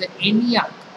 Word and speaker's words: ENIAC: ये शॉर्टकट्स है इसका प्रोनाउंसिएशन एग्जैक्टली नहीं हो सकता है या हम कर सकते हैं इट्स एनियाक okay With the advancement in various stages of